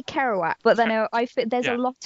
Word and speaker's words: Kerouac: For starters, I feel like someone else is going to have to pronounce Jack. I want to say Kerouac, but then there's a lot of vowels.